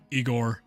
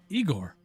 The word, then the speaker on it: Igor: is then the re rebuttal of uh Eigore. It's a high goal. Well, they told me at the office it was it was it was Igor. Well, they were wrong, weren't they?